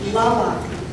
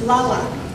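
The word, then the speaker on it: Tlaloc: Now you pronounce this Lala. Because if you're like me, I've admired it. It's a beautiful building. The painting is beautiful. The sign, I'm like, how do you say that? It's Lala. And Lala is an important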